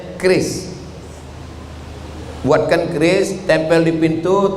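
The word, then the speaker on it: QRIS: Curis. Cara bacanya keris.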